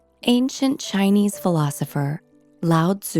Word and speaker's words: Lao Tzu: In the Tao Te Ching (Pronounced: Dao The Jing), ancient Chinese philosopher Lao Tzu (Pronounced L-ah-oh D-zoo) wrote: "Life is a series of natural and spontaneous changes.